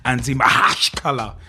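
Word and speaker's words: Anzhi Makhachkala: I mean, look at Anzi Makalaka Chikalaka Makalaka Lala, or if you want the proper pronunciation, Anzi Mahashkala.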